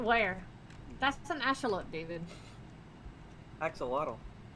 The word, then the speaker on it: axolotl: that's an asteroid david axolotl it's pronounced echelot oh okay i'm still